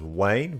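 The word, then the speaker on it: Wain: His name is Wayne, but it's not spelled W-A-Y-N-E. It's spelled W-A-I-N, which is the most unique spelling of Wayne I've ever seen.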